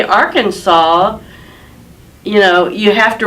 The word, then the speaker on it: Arkansas: just apostrophe so because it's spelled with an S at the end but you don't pronounce this when you're just in